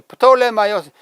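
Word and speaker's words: Πτολεμαῖος: 이 프톨레마이오스 영어로 하면은 탈러미 P를 발음하지 않지만 원래 헬라어에는 P를 다 발음하죠. 프톨레마이오스 하는 것이 그의 본명의 발음입니다.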